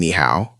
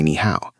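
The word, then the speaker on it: 你好: Both of these words are actually the third tone.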